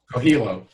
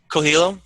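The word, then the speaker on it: Coelho: Co Coello how do you say his name cilo cilo okay cool thank you for yeah actually he's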